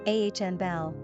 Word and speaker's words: Annabel: Pronunciation, Anabel.